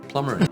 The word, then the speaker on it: plumber: Plumber.